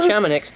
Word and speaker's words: Chamonix: Chamoix? Chamonix.